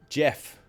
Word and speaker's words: Geoff: Another example of a soft G is Geoff. Jeff. Geoff. You wouldn't say Geoff. You would say Jeff, right? It's with a soft G. It would be Jeff, right?